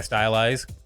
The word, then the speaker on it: styli: stylus I haven't changed my style eyes yes that is how you pronounce it in over a year